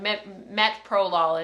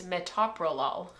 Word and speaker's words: metoprolol: hear certain ones like metoprolol and people are like metal pro Lawler they'll say like met prolol and it's like no it's metoprolol now I can say